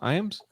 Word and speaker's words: Iams: How do you say his name? Iams? Yeah, I am.